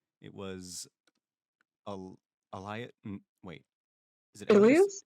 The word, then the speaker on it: Ilias: It was Elias or Elias? I forgot That how to was it. pronounce it. Oh, I think they can go both ways. Listen, man, it's I'm or- American, man. We have so many words that you could pronounce it one way or another way, and they spell the same. It's Ilias. Okay, Ilias. It was Ilias.